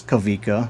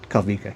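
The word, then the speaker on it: Kawika: his name which is Kavika which is a pretty common or popular Hawaiian name which is spelled Kavika K A W I K A or like W's are actually pronounced like V's in Hawaiian like there there is no V though.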